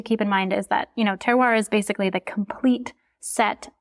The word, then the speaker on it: terroir: Terroir, right, is how it's pronounced? Yes.